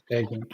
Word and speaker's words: Eggink: It's Dutch, so that's Eghink.